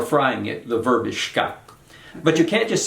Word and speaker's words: xka: is just a stem shka. We spell it XKA, and the X is always pronounced sh, just like an SH in English. And shka means something like to toast or to, what's the right word?